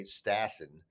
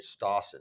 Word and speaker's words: Stassen: Well, yeah, because a lot of people say Stassen, which is the Chicago way, but like the Wisconsin people always say Stawson, like the proper like northern European pronunciation.